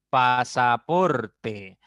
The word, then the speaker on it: pasaporte: una palabra grave ollana pasaporte pasaporte la mayor intensidad está en por la segunda sílaba contando derecha izquierda por